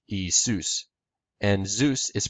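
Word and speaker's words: Ἰησοῦς: In Greek, Jesus is pronounced Iesus, or in modern Greek, Iesus, and Zeus is pronounced Zeus.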